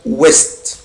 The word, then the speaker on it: l'ouest: بنطقها يا ولاد west على بعضها كده، l'ouest west الغرب.